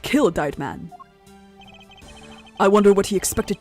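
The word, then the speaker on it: Deid Mann: The victim, Mr. Dyed Man, Is how it should be pronounced. In German, the second vowel says its name.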